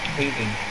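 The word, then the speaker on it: Haese: Hazy. It doesn't have a Z in it. It's H-A-E-S-E.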